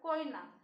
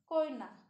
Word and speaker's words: Koyna: Koina. K O Y N E. Koina. Students, you understand now these words pronunciation?